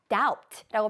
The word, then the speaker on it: doubt: 중간에 나와 있는 B는 묵음이에요. 그래서 우리가 B는 발음하지 않습니다. 따라서 doubt라고 발음하는 게 아니라 doubt라고 발음하는 게 정확한 발음입니다.